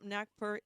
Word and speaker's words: Nagpur: And you're originally from Nagpur, India. Yes, Did I pronounce it that's correctly?